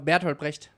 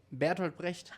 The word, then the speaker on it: Bertolt Brecht: Lo que pasa que, claro, nosotros pronunciamos como el culo. Ajá. Entonces yo... ¿cómo es? Dilo de nuevo. Bertolt Brecht. Nosotros decimos Bertolt Brecht.